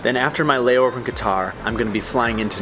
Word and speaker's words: Qatar: And I believe it is pronounced Qatar, and I'm gonna say Qatar. It's technically Qatar, we're more Qatar, which is like really hard to pronounce for my American accent.